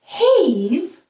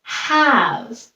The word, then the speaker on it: have: examples of those words have is an example of one of those words normally this eve would make the a say his name but we don't read the word as haze we read the word as have above is another word